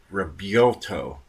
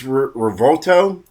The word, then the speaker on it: Revuelto: The V is actually a B. That's how it's said. It looks like it's Revuelto or something like that, but it's not. You have to use B instead of a V.